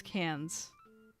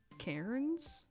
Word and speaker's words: Cairns: Pronounce cans. Oh, interesting. Cans. I see an R and my American brain goes, Cairns?